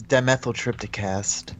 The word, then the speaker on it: Dimethyltryptacast: You can pronounce it. What's your show called? It's dimethyltrypticast.